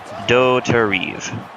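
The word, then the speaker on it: Dauterive: Well, it looks French. So, I tried to pronounce it French-like and failed miserably.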